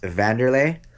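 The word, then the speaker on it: Wanderlei: And if you look a little higher right here, it says Wanderlay, which is actually pronounced Vanderlay. And then this over here says Silva. So this is Vanderlay Silva, the axe murderer.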